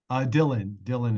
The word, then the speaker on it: Dylan: Is it Dylan or Dylan? Dylan. Dylan. Okay, yeah. I pronounced it right.